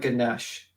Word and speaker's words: Ganesha: Yeah, that's you can just type in like Ganesh, Okay. Ganesha, Ganesh. the Indian Ganesh. god, and you can see the Spell it. elephant-headed god. It's Ganesha.